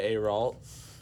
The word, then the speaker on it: Ayrault: Julia Ayrault, is that how you pronounce her name?